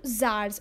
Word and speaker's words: Tsars: T is silent, I have told you. Tsars or Tsars.